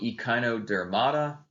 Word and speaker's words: Echinodermata: Phylum Echinodermata, that's how it's pronounced.